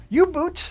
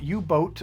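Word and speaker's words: U-Boot: players to emerge Victorious you boot the board game as it is actually spelled and not ubot or ubot as I have been mispronouncing it this entire time reached spot number 31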